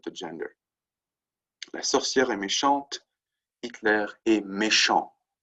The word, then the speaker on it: méchant: If it's just a T there, it's that silent T again. Méchant, with the E at the end, it's méchante. Right? You sort of pronounce that T.